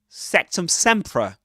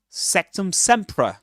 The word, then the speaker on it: Sectumsempra: Summ sea with awah again. Sectum sea. Sectum sea.